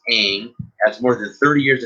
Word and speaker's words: Ng: sports team in north america so congratulations it's pronounced aang has more than 30 years of experience in baseball beginning of the interim with the chicago white sox in 1990.